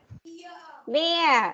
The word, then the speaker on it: bear: Bear. Good. Bear, not beer nhá.